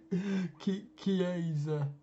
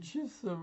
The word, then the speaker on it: Chiesa: Is that how you pronounce his name? Yeah, Federico Chiesa. Chiesa. Yeah, We just lost I it. We thought just we lost called it. him Chisa all these years. Oh dear.